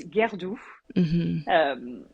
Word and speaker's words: Guerdoux: So it's Guerdoux. But my original British surname is, which is a lot simpler, at least for English-speaking people.